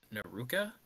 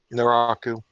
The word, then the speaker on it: Naraku: Naruka? Is that Max? Pronunciation check. Naraku.